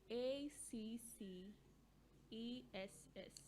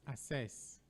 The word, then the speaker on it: access: the pronunciation again access access and not assess the one pronounced as